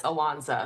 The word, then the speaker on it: Ilonzeh: you for having us I know my name set looks crazy it's easier pronounced than it looks it's alonsa thank you so